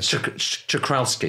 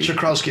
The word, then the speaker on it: Czochralski: How do you pronounce that word? Czochralski. Czochralski, that's where you're drawing these silicon sort of crystals off the surface of a molten crystal ingot.